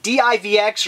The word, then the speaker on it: DivX: because this here is a DivX or otherwise pronounced divix I have her pronounced both ways release I do not